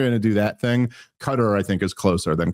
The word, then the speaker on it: Qatar: Also, if someone from uh is it Cutter or Qatar? I don't even know. Cutter is closer to being correct.